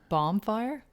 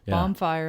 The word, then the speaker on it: bonfire: of a bob uh bomb fire oh yeah yeah yeah bomb fire as a up bomb yeah absolutely bonfire instead of bon fire that's another really common one bonfire bonfire i've heard